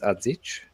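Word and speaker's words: Adžić: like uh adich because I refuse to say his name uh differently because his name is adich um for example yeah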